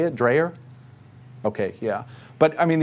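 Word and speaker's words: Dreher: rod rodriguez dreyer how do you say it dreyer okay yeah but i mean you have these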